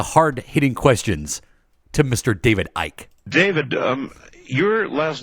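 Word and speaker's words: Icke: they called me um Ike um they called you Ike yeah I mean that you don't pronounce the C actually funny enough I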